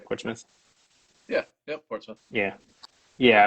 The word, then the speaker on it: Portsmouth: Uh that's how you guys pronounce it, right? Portsouth.